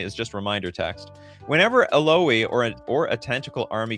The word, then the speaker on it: Illaoi: Like how Drakonix said who uh how did Drakonix do it? Illaoi, like ouch. Oh, Illaoi.